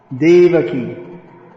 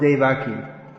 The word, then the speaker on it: Devaki: krishna is known as devaki ever heard of devaki quite well known devaki dave aki right no no devaki not dave aki you've all heard of